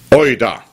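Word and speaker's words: οἶδα: die Worte ginosco und euda genosco das schreibt man g i n o s K und euda schreibt man o i d und wie wir noch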